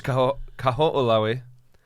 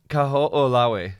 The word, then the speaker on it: Kaho'olawe: There's Kaho'olawe. Whoa. Just what happened right now? The Wait, say it dude, again? it's Kaho'olawe.